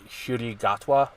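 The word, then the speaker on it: Ncuti Gatwa: pronounce his name um according to a pronunciation on shy gatwa is how you pronounce it um but he was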